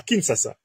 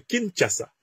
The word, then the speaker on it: Kinshasa: de Kagame a clairement dit à kinsasa et on me dit qu'il faut prononcer Kinshasa a clairement dit à